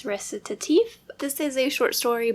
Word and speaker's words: Recitatif: [plays pronunciation guide saying: “recit-ay-tive”] I don't think that's right . Okay I just started to look up how to say this and I guess it's “Recitatif.”